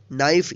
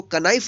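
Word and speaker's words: knife: तो इसलिए हम इसको पढ़ेंगे नाइफ, इसको कनाइफ नहीं पढ़ेंगे। क्या पढ़ेंगे? नाइफ।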